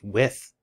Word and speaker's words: Wythe: palace green belonged to george white oh pronounced with george with i stand corrected leader of the patriot